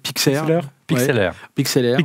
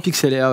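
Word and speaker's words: Pixlr: Comment on dit presque Pixelaire. Pixelaire, ouais.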